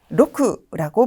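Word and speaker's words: 六: 나타내는 6 6이라는 한자죠 일본어에서는 로크라고 발음이 되는데요 한국에서는 두음법칙 때문에 리을 6이라고 말하는데 일본에선이 바로 리을의 발음 그대로로 로크라고 발음을 하고 있네요 자 음독으로 된 단어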